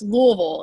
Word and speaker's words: Louisville: I couldn't and so it's Louisville it's kind of like you have like a mouthful of something and then you try to say Louisville yes that is people